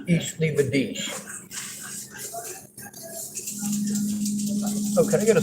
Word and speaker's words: Ich liebe dich: Although I pronounce it horribly, it's Ich liebe dich.